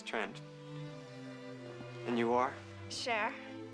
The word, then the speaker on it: Cher: Cher. It kind of rhymes with Claire.